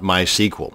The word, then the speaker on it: MySQL: to create a mySQL database and yes it's pronounce MySQL not MySQL so the next time you're at a dinner